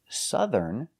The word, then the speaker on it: southern: But if I have the word southern, the OU makes the short sound, like cup, up, and cut. Southern.